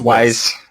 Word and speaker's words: W'z: it Wiz or Wise? It's Wise.